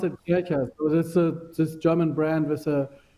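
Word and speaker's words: Kärcher: I think Lars, you were saying Karcher. Is it Yeah, Karcher? No, sorry. You pronounce Kercher. it Kercher. Kercher. Okay. Yeah. No, we pronounce it Kircher.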